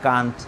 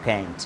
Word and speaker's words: can't: নট, সো ক্যান নট, কান্ট অর ক্যান্ট, okay, both pronunciation is correct, ক্যান্ট is American and কান্ট is British, okay.